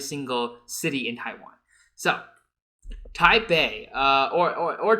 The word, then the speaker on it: Taipei: So Taipei uh or or or Taipei. I don't know uh where like the the P came from. It's in in Chinese you would pronounce it with a B.